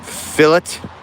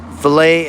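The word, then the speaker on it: fillet: fish for me to fill it fill it and clean. I hate it when people say it like that. Filet and clean.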